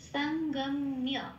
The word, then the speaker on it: সঙ্গম্য: এইবার সঙ্গম্য, মিয়া হিসেবে একটা উচ্চারণ হচ্ছে, কারণ ম আগের অক্ষরটা ম আছে, সঙ্গ আগের অক্ষরটা ম আছে, ম প্লাস হর্ষই প্লাস অন্তস্থ হইলে মিয়া হয়, তাহলে উচ্চারণটা আরেকটু সুবিধা হয়।